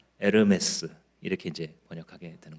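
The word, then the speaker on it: Hermès: 허가 헤르메스에 풀어서 쓰면이 헤르메스를 불어로 발음하게 되면 h 음이니 에르메스 이렇게 이렇게 이제 번역하게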